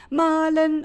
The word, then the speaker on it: mahlen: Malen und malen. Ein unhörbares H verbirgt sich in dem zweiten Malen.